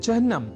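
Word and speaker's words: चिह्न: अर्थात चिन्ह में अर्ध हकार के बाद न इस अक्षर का संयोग होता है।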